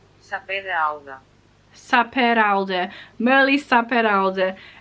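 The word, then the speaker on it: Sapere Aude: Saperalda. Merle Saperalda. It's Spanish, well, it's Catalan, and that's how you pronounce it.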